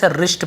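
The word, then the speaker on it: wrist: कलाई घड़ी रशियन होता कलाई इसे डब्लू साइलेंट होता है लिखा जरूरत है रिस्ट पड़ते हैं ऐड ऊपर बहुत सारी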